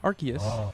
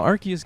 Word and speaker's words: Arceus: powerful light in this entry probably referring to Arceus yes that's how I pronounce it and I don't care how you